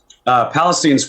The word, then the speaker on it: Palestine: Palestine's where my parents live. Okay, so like Palestine, just pronounced different.